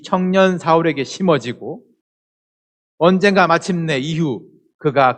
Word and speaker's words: 사울: 이 사울이 변하여 바울이 되는 것은 아니고요. 히브리식 발음이 이 사울이고 이 헬라식 발음이 바울이에요.